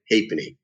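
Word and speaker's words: halfpenny: in hapley half penny we spell it as a half penny h a l f p e n n y we call it happening so that a four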